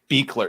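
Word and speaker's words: Buechler: That's also the best I've actually heard his name pronounced. Beekler, because it sounds like Wiegler, but it is fucking the German names.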